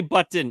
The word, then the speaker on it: button: I say button. I pronounce both T's.